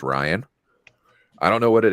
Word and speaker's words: Ryan: yeah for some reason people always think I say Brian when I'm saying my name is Ryan I don't know what